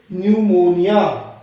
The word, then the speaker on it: pneumonia: कुछ एग्जाम्पल से समझते हैं, जैसे PNEUMONIA, इसके अंदर P साइलेंट रहेगा, इसे बोलेंगे न्यूमोनिया, N से शुरू करेंगे, न्यूमोनिया।